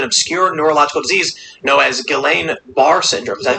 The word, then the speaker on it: Guillain-Barré: diagnosed with an obscure neurological disease known as Guillain-Barré syndrome. Is that how you pronounce it? Guillain-Barré.